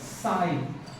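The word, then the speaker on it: psi: सा बना लीजिए इसे पढ़ते हैं साई लिखते हैं पसी पीएस आई पसी नहीं साई ही है pronunciation P एस I spelling होती है एंड वी से दिस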